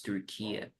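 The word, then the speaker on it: Türkiye: is the correct name Republic of Tura you need to pronounce pronounce Tura because turkey it's they were tired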